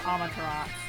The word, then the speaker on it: Amaterasu: It's actually pronounced Amaterasu.